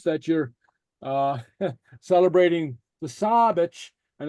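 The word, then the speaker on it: sàbaid: a broad vowel it's pronounced like an s in English like sabage saage which is Sabbath the LA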